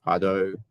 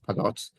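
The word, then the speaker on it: Pardot: So maybe you've heard of Pado, or sometimes pronounced Padot, which is a Salesforce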